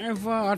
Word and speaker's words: Ewa: kaya Eva iso nga Eva EWA Evavich kana pronounce as Eva talaga Resverano naodi ka man Resverano ngarot apo